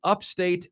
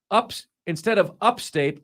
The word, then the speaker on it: upstate: is Mark Ryan when he pronounces it upstate instead of upstate like it should be. So okay. So I think you say upstate. Oh, I do? Okay, so I'm putting the emphasis on the wrong syllable.